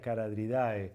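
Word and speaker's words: Charadriidae: La CH suele ser una pista de que esa palabra viene del griego, pero no se pronuncia como ch. Por ejemplo, los caradriformes, los de la familia Caradridae.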